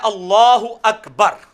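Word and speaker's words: الله أكبر: पीछे आपने करनी है लाम को पुर पढ़ना है क्योंकि अल्लाह का लाम जो है वो पुर पढ़ा जाता है तो मैं जो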